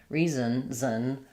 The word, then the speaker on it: reason: It's not it's not like son reson reason. I'm really just going from the z to the n sound and the n functions as the full syllable. First syllable re um or yeah first syllable re and second syllable zen no vowel the n just functions as the vowel.